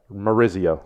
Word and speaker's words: Maurizio: gonna remind you Spelman you said my name wrong again Oh Maurice I'm sorry maurizio perfect with you I'm trying